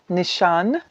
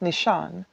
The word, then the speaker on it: Nishane: one so this is from Nishan I believe is how you're supposed to pronounce it I've been saying Nishan but I believe that this brand is from turkey and I'm pretty sure that it's pronounced Nishan someone please correct me